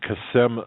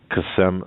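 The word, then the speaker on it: Qassem: name for me please sure it's uh it's kasem sulaimani it's q-a-s-s-e-m like mary once again that's cassand uh kasem q-a-s-s and the last name is spelled s-u-l that's s-u-l e-i-m-a-n-i kasem silimani well i was way off okay yeah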